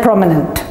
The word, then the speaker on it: prominent: So the accent is on the first letter or the first syllable, imminent, right? And eminent and prominent.